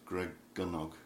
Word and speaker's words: Gregynog: with the pronunciation Dragonic the pronunciation welsh is always on the penultimate syllable so it's good dog